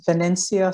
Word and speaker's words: Vinincia: pronouncing it right well my name is pronounced vanencia but it's spelled like struck him but that's okay i'll